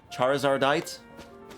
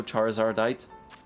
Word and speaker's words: Charizardite: Charizardite cuz you add a it at the end. So, Charizardite.